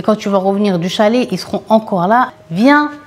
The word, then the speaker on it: chalet: mais eux ils appellent c'est vraiment chalet, ça se prononce comme ça à la française sauf que c'est pas la montagne c'est en bord de mer.